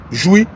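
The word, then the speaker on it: Jouy: de Paris qui est situé à 7 rue joui 7504 jou s'écrit j u y et c'est le métro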